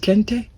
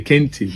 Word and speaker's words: Kente: Bro, not Kente. Kente. My Ghanaian people come for you, bro. Yeah, I can't pronounce it correctly because I'm from Southern Africa. So I feel you. I feel you, bro. So no worries. How do you pronounce it? Kente. Kente? Like, say it straight, like Kente.